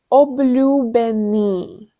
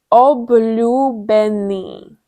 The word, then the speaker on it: Obľúbený: Obľúbený, which means favorite. And let's break it down. We will start from the end. Ni. Benny. Ľúbený. Obľúbený.